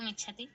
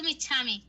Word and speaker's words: इच्छामि: महोदय एक भगवती गात इच्छति इच्छति तो बोलना नहीं इच्छति तो बोलना ही नहीं अंजली तुम एक महीने से क्लास में हो गई हो तुम अस्तु महोदय क्या बोलोगी गात इच्छामि इच्छामि हां अब तुम्हारे लिए